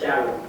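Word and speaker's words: Dialo: It's just spelled in a French way. That's the name I got for my husband from Ivory Coast. So it's a French spelling. So I just want people to pronounce it as Jallo.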